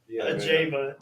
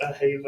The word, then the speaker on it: Ajeva: ] forgot that's funny a Jaa not Silent not like Hispanic a Hava or anything no what